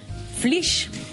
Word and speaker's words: Flix: No és que n'hàgim de dir així, és que es diu així, flix.